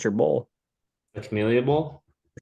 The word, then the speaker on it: Camellia: Pronounce that for me. It's your bowl. The Camellia Bowl. The Camellia Bowl.